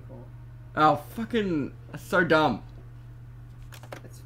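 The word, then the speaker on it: Corps: You don't pronounce the P in core.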